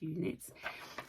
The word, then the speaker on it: EweKnit: It's EWEKNIT, so I think it's pronounced Uknits.